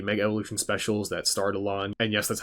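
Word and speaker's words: Alain: they aired the Mega Evolution specials that starred Alon and yes that's how you pronounce his name it's Alon now I'm not going to explain any of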